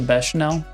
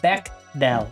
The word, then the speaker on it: Bechdel: Does it pass the Bechdel test? The Bechamel?